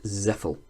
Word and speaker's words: ZEFL: They call it the zero-force evolutionary law, or this abbreviation, which is pronounced ZEFL.